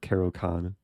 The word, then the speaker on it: Caro-Kann: I'm always conflicted to say Caro Can or Caro Can. Like Caro Can is the correct pronunciation.